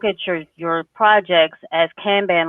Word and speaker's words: kanban: seeing cello and and really looking at the kanban is how you say it kanban boards the